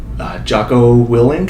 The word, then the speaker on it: Jocko Willink: quote that you have under growth is by Jocko Willink.